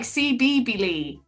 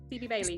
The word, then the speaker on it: Phoebe Bailey: Respect Inequality says, how did I pronounce this one again? Because I'm like CB Lee, but it's not that, is it? CB Bailey. Phoebe Bailey.